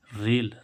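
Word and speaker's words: rail: ऐसे इसमें आर ए आई एल, आर ए आई एल, तो यहाँ पर क्या आ रहा है? ए आई, तो इसका उच्चारण क्या होगा? ए, यानी कि रेल।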